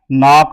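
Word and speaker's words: knock: होगा wrestler did नॉट नाक आउट पहचानने के लिए होगा नाक आउट तो यह के के बाद जब एन आ जाए तो के ये साइलेंट हो जाता है यह आपको पता होगा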